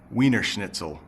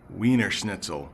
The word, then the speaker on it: Wiener Schnitzel: about pronouncing this but in English we say wiener schnitzel weener schnitzel it is a type